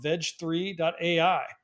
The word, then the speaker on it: Veg3: how we pronounce it what I like is veg3 it's a little bit of a on Words With gpt3 which is the underlying technology that it uses and also it's a